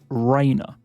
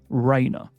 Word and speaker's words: Reina: Now, this is a typically Spanish name, and it is Reina. Reina.